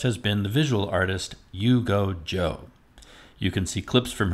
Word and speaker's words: Yuge Zhou: and my guest has been the visual artist you go joe you can see clips from her videos and